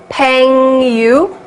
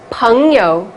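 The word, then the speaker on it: 朋友: Peng yu? No, definitely not. ENG is like in uncle, so peng. And yo is like in yo-ho, that yo. So it's peng yo, not peng yu, right?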